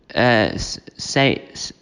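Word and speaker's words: Sayeeda: So, briefly, Saida, that's how you say her name.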